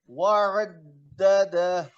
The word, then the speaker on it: وعدده: عين پر زبر ہے، خوب واضح ہونا چاہیے. وعدده.